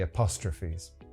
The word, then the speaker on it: apostrophe: The next problem is with the apostrophes. Listen carefully to how I say that word, as Polish people usually mispronounce it.